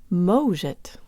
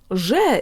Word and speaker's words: может: hear too much opening, but listen to what happens if I close the O like someone from the US would. Может. Completely not Russian. So make sure to do a little opening if you want to sound Russian.